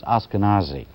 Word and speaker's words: Ashkenazi: I mispronounced Dr. Weiss's colleague's name. It's Ashkenazi. All right, for more than